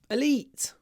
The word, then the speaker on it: elite: an elite school Elite now here we have the e sound but it's really short it's clipped because it comes before an unvoiced T elite elite elite elite there's not a lot of voice in that vowel sound Elite in an elite